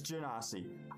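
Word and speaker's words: Genasi: she's nodding her head ganassi so i she's played one i haven't chocolate it does it's it's godiva confirmed dnd beyond it has a pronunciation button i'll take it it's janasi um so you see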